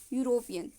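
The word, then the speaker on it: European: बट इसका ई है, ये साउंड किसका दे रहा है? इस वर्ड का प्रोनाउंसिएशन क्या होगा? यूरोपियन, है ना.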